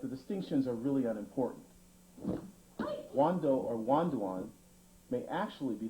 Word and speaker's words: Wando: On this tape, we will examine the rare forms known as Hakucho, Papuren, also pronounced paipuren, and Wando, pronounced Wanduan in the original Okinawan dialect.